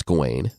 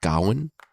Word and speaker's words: Gawain: is all about GNE which yeah I pronounce gain but I think it's maybe correctly pronounced Gowan I just want to